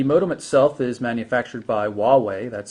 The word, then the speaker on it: Huawei: 3g network the modem itself is manufactured by Huawei that's spelled hua weei for those either don't recognize